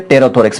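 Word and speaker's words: pterothorax: Meso और Meta दोनों को कंबाइंड रूप से टेरोथोरैक्स, पी साइलेंट इसमें टेरोथोरैक्स इसको बोला जाता है।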